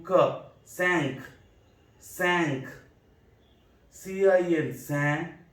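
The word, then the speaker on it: cinq: Q, ka, sank, sank.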